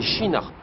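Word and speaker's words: Kinnarps: pas ici nous sommes à kinarp prononcé chinarp une petite ville à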